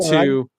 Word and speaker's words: Jawer: Jeff Yeah, Jower, yeah, he pronounced it he went Jower.